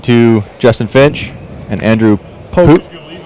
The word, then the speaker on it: Pooch: We're talking to Justin Finch and Andrew Poke. Poke. Yep. Spelled Pooch. Pronounced Poke.